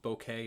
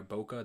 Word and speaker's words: bokeh: way that so there's something called bokeh or boca depending on how people pronounce it and what it is